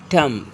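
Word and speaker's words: tomb: अगर किसी वर्ड में बी एम के बाद आता है तो ज़्यादातर बी साइलेंट होता है। Example, BOMB बॉम्ब, LAMB लैम, नॉट लैम्ब, लैम, B silent. टम, कॉम, थम, ETC। So here B silent करना है।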